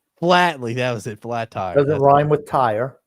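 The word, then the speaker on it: Flatley: Flattly. That was it. Flat tire doesn't rhyme with tire.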